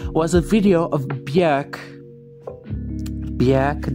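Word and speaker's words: Björk: Bjerk, that's how you pronounce her name, beating up a reporter.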